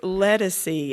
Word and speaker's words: Ledisi: her Ledisi I I have a hard time pronouncing and I I said it's Ledisi and told me about the album yeah I